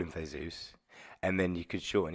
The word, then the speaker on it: Theseus: I think the one that I think is pronounced Theseus, Like Jesus, like but Huevos. it's Theseus.